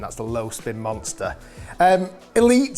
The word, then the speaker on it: Elyte: Elite spelled like this, E-L-Y-T-E, because originally Eli Callaway set up Callaway.